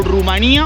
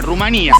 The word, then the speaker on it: Rumanía: de este video que nos referimos al país como Rumanía o como Rumania, porque ambas pronunciaciones están correctas en el castellano, pero la pronunciación en rumano suena muy parecida a la fonética que dicen en España, Rumanía.